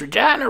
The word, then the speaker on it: Regina: back to regina cause regina rhymes with fun